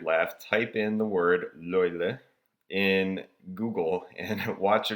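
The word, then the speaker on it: löyly: The steam that's generated actually has a Finnish name, and it's called, I'm going to pronounce this horribly, but I'm going to give it a shot. It's called loile.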